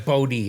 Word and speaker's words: Bodē: It's Bodē, actually. It's Bodē, but Bodē, it became Bodē when my father was around because he put a long E over the E for Bodē.